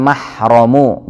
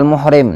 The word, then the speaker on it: mahram: disebut sebagai almahrum bagian pengucapannya adalah Al mahrammu dengan mempertahakan roh Jangan nanti kamu kenal muhrim nantikan di Indonesia sering